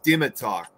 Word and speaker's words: Dimitar: And real quick, for the one here, I actually figure out the way how to pronounce his name. It's Dimitar. That's in Bulgarian.